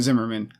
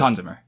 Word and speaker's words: Hans Zimmer: Is it Hans Zimmer or is it Zimmerman? I don't have. It's Hans Zimmer. Zimmer? Yeah. Oh, okay, like Simmer, like simmer down.